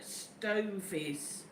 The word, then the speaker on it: stovies: Apparently, JJ said nope, it's pronounced as in stovies.